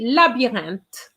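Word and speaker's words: labyrinthe: uh second line labyrinth i remind you that the y in french has the same pronunciation as an i hence la b then we have the sound an and then we have the t with an h but we know that the h is silent so we are going to say labyrinth and we're going to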